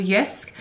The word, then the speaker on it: JYSK: thought I would go to a shop called yusk which I'm sure a lot of you will